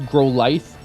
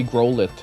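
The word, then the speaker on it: Growlithe: And I know it's grow life. I used to say growit when I was a kid. I used to say grow it. Hey, it's Growlit.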